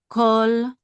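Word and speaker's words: כָּל: That's a kaf, and this is a kamatz. It's modern Hebrew. It's usually pronounced as ah. Okay. But with this word, we don't pronounce it the modern way. We usually pronounce it the ancient way, which is ah. Ah. So ka. And then with the lamed, kol. Right, kol.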